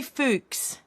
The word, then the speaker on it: Fuchs: Jamie Fuchs, JL Fuchs on X. Lying, and it rhymes with runt. Lying, runt with a C at the front.